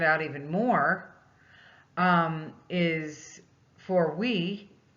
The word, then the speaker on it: oui: And this particular product, to even stand out even more, is for oui, is how they say it, O-U-I.